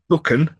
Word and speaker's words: Buchan: Yes, because we had one of our lovely patrons, uh, Jacob King contacted us mentioning that buckan is pronounced buckan, the first syllable is like book.